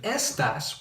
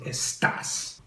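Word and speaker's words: estás: these accent marks so instead of s desk you want to say estas so we're going to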